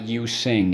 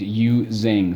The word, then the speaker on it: using: second syllable zing and no it's not you sing it's you zing so don't be this